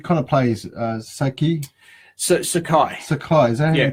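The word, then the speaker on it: Sakae: ha like you kind of plays Sookie search Sakai so close and you pronounce it yeah Sakai so how's the spell it's a ka e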